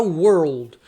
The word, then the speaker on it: world: Esse R, quando ele é de preto e maiúsculo, o som é o R do caipira.